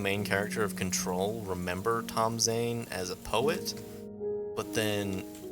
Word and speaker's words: Tom Zane: Tom Zane is, or his name's pronounced Tom Zane, but it's spelled differently.